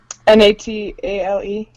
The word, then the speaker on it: Natale: Natale. Yeah. Yeah, that's weird. That says Natale. Yeah, it's usually IE, Natalie. Yeah. That's Natal. Natal. Hi, Natal. Hero Natal. Not tail. Alright. Not tail. No tail.